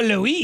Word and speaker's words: Louis: By the way, it's Louis. Is it? It is. Kyle Louis. It is Louis.